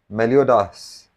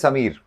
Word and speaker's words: Samir: Melodas. Am I saying it right? Melodas or is it Meloda? My name is Samir.